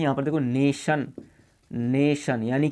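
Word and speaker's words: nation: ऐसे ही यहाँ पर देखो नेशन, नेशन यानी कि TIO, इन तीनों से मिलकर के 6 अंक वाला बना है।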